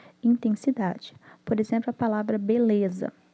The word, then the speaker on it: beleza: Por exemplo, a palavra beleza. O B e o ZA têm intensidade alta. Então, a sílaba de menor intensidade é o LE de beleza.